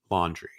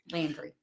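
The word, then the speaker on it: Laundrie: a fiance named Brian laundry Landry I think I don't know if is it laundry I heard a podcast today the laundry pronounce it like laundry like like the laundry yeah um and so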